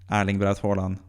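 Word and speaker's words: Erling: completely out there uh it is Arling if you want to say it correctly orling in in his dialect as well but thean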